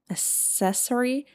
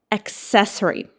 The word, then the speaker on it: accessory: How do you pronounce it? Accessory. No. Accessory. Accessory.